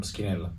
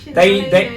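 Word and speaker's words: Schinella: I might have picked up my birthday cake from Skinella. Might have. How do you say it? Skinella. Because the CH is K. But you say Scinella here. Scinella, they themselves call themselves Scinella, so I can't.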